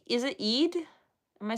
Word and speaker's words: Eid: It's just Eid.